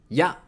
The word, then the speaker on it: や: Ya. Ya is pronounced like ya in yat. In British English, it sounds like ya in yak.